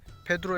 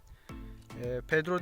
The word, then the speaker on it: Pedro: önceki videomda bunlara tozlayıcı olarak Petro ettiğimi söylemiştim Ancak telaffuzu yanlışlık telaffuza yanlış da bulmuşum gittim faturasını da baktım Hatta Pedro demiş firma olmuş arkadaşlar burada beş